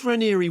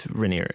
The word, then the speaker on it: Raniere: I think it's Raniere Raniere. Raniere. I think it's Raniere, isn't it? But it looks like it should be Raniere, a French name.